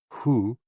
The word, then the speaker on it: hoo: HOO, pronounced like hu, which is associated with the spleen, and XI, pronounced like shi, which connects the whole body.